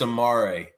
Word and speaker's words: Amar: the funny thing is I'm pretty sure it's that's Amar is how you're supposed to say his name uh even though I've